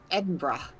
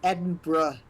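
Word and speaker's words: Edinburgh: way you pronounce that edra am I wrong I don't know it's not my name to uh pronounce uh correctly or incorrectly it's edin bruh Ed bruh I'm sorry as you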